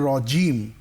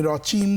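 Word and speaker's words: رجيم: আমি আউজুবিল্লাহি মিনাশ শাইতানির রাজিম জিমটা শক্ত পাইনি রজিম বলো দেখি রজিম আমি রচিম চিম শুনেছি রজিম রজিম বিসমিল্লাহ পড়ো বিসমিল্লাহির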